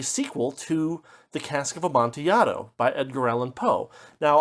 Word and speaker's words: Amontillado: is a Spanish word, and so probably the pronunciation is closer to Amontillado in Spanish.